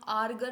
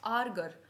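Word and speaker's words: Ärger: ई आर एर गर इसको हम आर्गर नहीं बोलेंगे जैसे ही आपके पास ए मिट उम्लाउ आ जाए वो आ नहीं होगा वो ए बन जाएगा क्या बोलेंगे आर्गर आर्गर आर्गर क्या होता है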